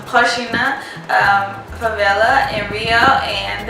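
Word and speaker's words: Rocinha: to the HHA flla it's written Rosina but it's pronounced Hina um FAA in Rio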